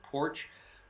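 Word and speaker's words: Poarch: It's P-O-A-R-C-H, but I think he pronounces it Porch.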